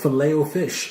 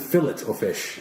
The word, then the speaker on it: Filet-O-Fish: McDonald's Filet-O-Fish, or is it fillet-o-fish? I don't eat I believe it's pronounced filet-o-fish. Filet-O-Fish, alright. I was told that it's fillet, but it's French call it filet, because that's their language.